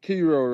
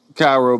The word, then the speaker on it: Cairo: Hey, Kiro, right? Kiro, I'm saying it right, right? Cairo, but yeah, go ahead.